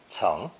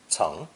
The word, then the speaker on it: 层: Our second character is a drawing of this upper layer of sod, and is also pronounced second tone ceng, ceng.